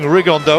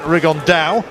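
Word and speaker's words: Rigondeaux: three weeks and he's T's talked about fighting riondo or as he's correctly pronounced with the uh Spanish accent rigon da and two absolute Geniuses but it could also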